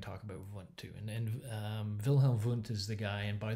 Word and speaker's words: Wilhelm Wundt: And Wilhelm Wundt is the guy, and by the way, in German, W's are pronounced V's, and V's are pronounced W's. So Wilhelm Wundt is like William Wundt, is what it looks like, but it's Wilhelm Wundt.